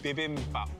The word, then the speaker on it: bibimbap: Bibimbap.